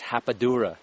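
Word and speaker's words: rapadura: a um something called it's spelled r a p but it's pronounced in Portuguese hapad Dura it's a it's AA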